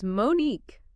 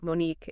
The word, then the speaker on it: Monnique: It is Monnique. See? The stress is on the last part. Monnique, it's wonderful to be here with you.